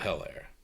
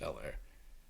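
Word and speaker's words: Helaire: The Fresh Prince of hell air or el air it's actually pronounced el air oh by the way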